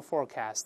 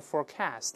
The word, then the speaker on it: forecast: 可以读成 forecast 或者 forecast 都行，名词重音在前面，动词呢重音在前在后都可以。